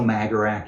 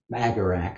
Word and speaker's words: magarac: But in Hungarian, Magarac means jackass. So there's a little bit. You Magarac. I'm my vocabulary. You Magarac. Yeah, but I think they pronounce it more like Magrats or something like that.